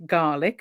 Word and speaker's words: Gaelic: learned that it's not pronounced GIC but it's pronounced garlic which obviously most of us think about suddenly